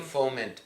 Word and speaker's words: foment: To foment. Foment is the right proper pronunciation.